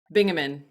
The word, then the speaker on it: Bingaman: bio all right your last name is it pronounced baman bingaman yep right good I didn't even